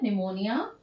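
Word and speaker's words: pneumonia: निमोनिया की spelling बच्चों पी से स्टार्ट होती है, निमोनिया, निमोनिया लाइक ऑर्गेनिज्म, है ना।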